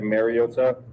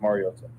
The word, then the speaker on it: Mariota: Um, I think it's been said over the years like Mariota. Um, which is incorrect and it's pronounced Mariota.